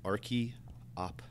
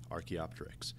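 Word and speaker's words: Archaeopteryx: past one of these examples is something called archaeopteris that's pronounced Arch opter Arch opter this lived 150 million years ago during the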